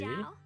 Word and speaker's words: Zhao: So Z or Z is not pronounced Z. Okay, It's Xiao J. Zhao. That sounds like JoJo for some reason.